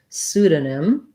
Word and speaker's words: pseudonym: for your request so pseudonym um has first syllable stress the p is silent so we start right on the s sound su this letters e